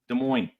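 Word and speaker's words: Des Moines: Uh there's Mo as in De Moines. There you go. De Moines. That's how you say it.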